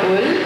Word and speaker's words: Houle: Mon nom c'est Houle. Mon français, that's Houle. So if you're English, you can call me Houle.